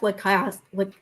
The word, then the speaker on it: Lacasse: Well, I felt like Jeff Lacasse, how does he pronounce his name?